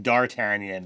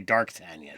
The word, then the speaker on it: D'Artagnan: I always mispronounce the Three Musketeer. Instead of saying D'Artagnan, he likes to say Darktagnan.